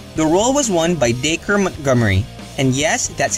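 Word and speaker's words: Dacre: role was won by daker Montgomery and yes that's how you pronounce his name acre with a D in front this film marks the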